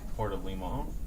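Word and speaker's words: Puerto Limón: During an earthquake in 1991, the Costa Rican city of Puerto Limon, is that how you say it?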